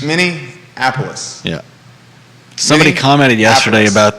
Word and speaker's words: Minneapolis: how you were saying there's no n in the middle it's many apollos mini apollos yeah somebody commented yesterday